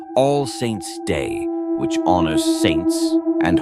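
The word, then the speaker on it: Samhain: of years to a festival called Sam Hoin pronounced sa in celebrated by the ancient Kelts Sam Ho marked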